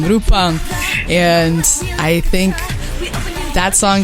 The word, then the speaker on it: Lupin: My personal favorite was none other than Kara Lupin, or Rupang. You pronounce it in Korean, Rupang.